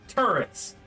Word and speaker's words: Tourette: So It's pronounced turrets.